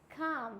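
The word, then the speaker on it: calm: पहले अगर आता है एम से पहले आएगा तो काम बोलते हैं ना काम डाउन तो काल्म डाउन नहीं बोलते हैं it means काम down next होता है बाम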